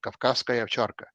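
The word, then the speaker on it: Кавказская овчарка: Or you have a dog which was, I'm going to pronounce it the proper Russian pronunciation, Kavkazskaya Ovcharka, Caucasian Shepherd.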